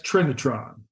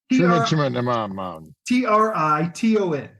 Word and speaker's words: Triton: States Navy nuclear-powered radar picket submarine the USS Trinitron Trenton sorry under the command of Captain Edward Beach what is the name t-r-i-t-o-n Trenton Triton okay t-r-i-t-o that that n is